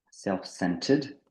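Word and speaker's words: self-centred: sur le moi tac self cented cented donc là le r il est pas là le r tu le prononces pas dans cented c'est comme s'il existait pas tu peux même le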